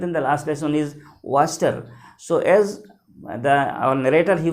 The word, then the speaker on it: Wachter: Again, WACHTER, and its pronunciation is Waster.